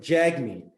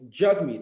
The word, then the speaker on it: Jagmeet: sometimes can be frustrating they pronounce it jag me but it's actually and you can clarify this for me jug me and i've made this